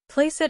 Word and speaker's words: placeat: Placeat experiri, he quoted, giving the Italian pronunciation to the C.